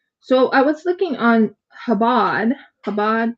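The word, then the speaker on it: Chabad: So So I was looking on Habad. Habad. Chabbad. Habad. I think it's habad because the ch Yeah, habad.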